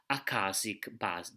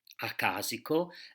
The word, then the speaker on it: akashic: I pronounce akashic because the disembodied teachers pronounce akashico and also akisico because they make difference between akashic and akisic. So I use the pronunciation I have been taught in. But I know that it is more fashionable nowadays to pronounce it akashic. And maybe people can understand better the word akashic bodies.